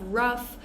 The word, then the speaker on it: rough: have cough we have Ruff um all of these words that end in o u g h and almost every single one is pronounced differently so definitely be careful with those words so again we